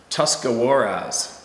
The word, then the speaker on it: Tuscarawas: It's a stretch of road that runs very close to Tuscarawas, pronounced Tuscarawas River.